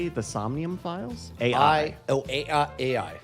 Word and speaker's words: AI: AI. Oh, AI. But you pronounce it I because you're a dream cop, right?